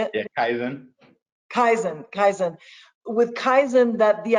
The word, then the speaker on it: Kaizen: Yeah, Kaizen.